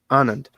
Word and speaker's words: Anand: process with uh uh anand is that the proper pronunciation uh it's honored um because it's so